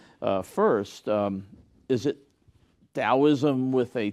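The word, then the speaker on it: Daoism: was still being pronounced dosm in China right and and so spelling it with a d is a more accurate uh capture of the pronunciation and so the more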